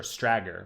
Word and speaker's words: strager: or something like that pronounces it like swagger stagger got it cool or stragger rather it's a cool idea